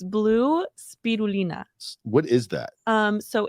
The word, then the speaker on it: spirulina: It's blue spirulina.